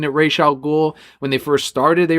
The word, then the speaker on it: Ra's al Ghul: They actually pronounce it Ra's al Ghul and Ra's al Ghul both ways on the show.